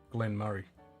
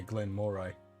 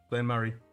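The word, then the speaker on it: Glen Moray: you pronounce it foreign I think the most annoying pronunciation one that I drives me at the mall is Glenn Murray because most people say Glenn Moray is like no no such thing Glenn Murray some of the hardest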